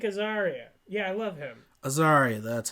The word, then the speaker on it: Azaria: Azaria, that's how you say it.